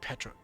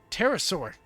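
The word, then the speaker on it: Pterosaur: Why am I saying Petra? Terasaur. Oh, I can't believe I fell for my own thing of of my own the P doesn't get pronounced joke.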